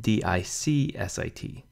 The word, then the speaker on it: dixit: split up by rule the x is really a C and S sound put together so Dixit Dixit T is really something more like Dixit di csit ah if we spell